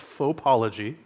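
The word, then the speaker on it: fauxpology: So I think you know without explanation what this word means, but it's pronounced faupology, right?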